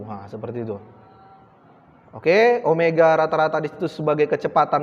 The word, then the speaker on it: omega: Omega, nah ini bacanya omega nak, bukan W ya.